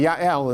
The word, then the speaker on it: Yael: her name is yael which is spelled with a j in english or some people call it jail or whether it's ja el or ya'l anyway yael in the hebrew i mean it's like